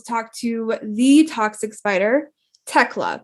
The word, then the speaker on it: Thekla: to the toxic spider tecla correct the h is silent yes yes okay from